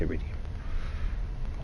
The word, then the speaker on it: iridium: Let's head in deeper into the asteroid field in this iridium. Yeah. We equal there on there, Captain. Yeah. It's iridium. Iridium. Iridium. You don't pronounce the first I.